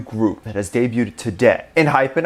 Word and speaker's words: ENHYPEN: that has debuted today in hyphen i believe is how you pronounce the name they have come from